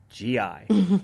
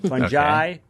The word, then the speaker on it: fungi: Before I start, I found 3 generally acceptable ways to pronounce Fungi. Fungi, fungi, fungi.